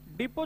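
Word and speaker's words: depot: देखो डिपो जो होता है वो गुड्स के लिए होता है, टी साइलेंट रहता है ना, बुक डिपो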